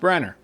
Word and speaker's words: Branagh: And Kenneth Branagh was asked, actually you pronounce his name Branagh. I didn't know that, but it's spelled Branagh. It's pronounced Branagh.